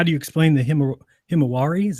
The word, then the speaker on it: Himawari: saying well how do you explain the him Himawari is how you say it you know the